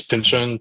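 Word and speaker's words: Pynchon: on a novel called Vinand by uh Thomas Pinchan which I could be pronouncing his name wrong. So I think right Tom I think I'm right. I think so. I think it's Pinchan Pinch.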